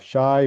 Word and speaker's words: shai: So you have shai which is pronounced as sh fi which is pronounced as fu.